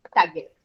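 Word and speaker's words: Taguette: it's sort of a pun on baguette. Oh, okay. Tagette. So now I would be pronouncing it correctly.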